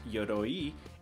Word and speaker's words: Yoroi: started yo roy is actually a japanese word pronounced yodoyi and it actually stands for armor and specifically